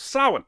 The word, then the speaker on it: Samhain: the lord of the dead which is actually pronounced souwan and dr luma should know that i'm surprised